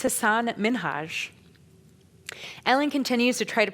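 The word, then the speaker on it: Hasan Minhaj: And then he goes on to tell her, "It's Hassan Minhaj." Ellen continues to try to pronounce it until she gets it right.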